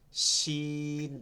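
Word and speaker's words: شين: শিন scene শিন scene শিন শব্দ আসবে এখান থেকে জিহ্বার মধ্যখানটা টাতে লাগবে শিন শিন সিন একটা হচ্ছে জিহ্বার আগাটা নিচ থেকে লাগাচ্ছি না নুক্তা ছাড়া সিন আরেকটা হচ্ছে জিহ্বার মধ্যখান তালুতে লাগাচ্ছি তালেব বসর মতন শিন শিন সিন সিন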